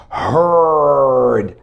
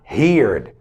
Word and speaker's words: heard: a big difference here you must just pronounce it this way heard not here okay heard not heared heard okay so do